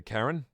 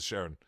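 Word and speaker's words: Charon: The Karen? Is that how you pronounce it? Oh, it is. For some reason I always pronounce it Sharon.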